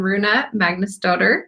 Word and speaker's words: Rúna Magnúsdóttir: So I'm Shannon and Amir, and we're here with Nicholas Haines and Rúna Magnúsdóttir. Did I pronounce it correctly?